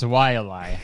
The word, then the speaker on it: Walale: It's Walale, okay? put some respect on it, man.